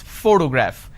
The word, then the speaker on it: photograph: this particular word photograph the correct pronunciation is photograph which means I am stressing on this particular syllable which is the first syllable please give me the